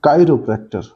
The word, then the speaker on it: chiropractor: on os part so chiropractor the stress is on chi part for the attest so